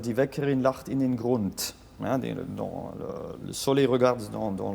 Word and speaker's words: Grund: Et après, le T de Grund, hein, il faut le prononcer parce que.